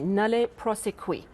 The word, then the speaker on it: nolle prosequi: Thank you so much for explaining that so very clearly and helping me to pronounce it correctly. Nolle prosequi.